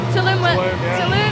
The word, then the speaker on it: Tulum: Am I pronouncing that right? Tulum.